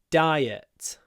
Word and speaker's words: diet: so I'm on a diet again people often just use the Russian version Don't it's a diet diet uh so diet I don't know rhymes with uh Riot for example what other words have IAT